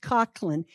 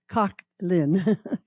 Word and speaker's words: Coughlin: pronounced Cochland, which you you'll also find if you do